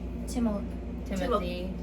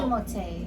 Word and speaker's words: Timothée: Timothy Chalamet. No, it's No. Timothée. It's Timothée. Timothée.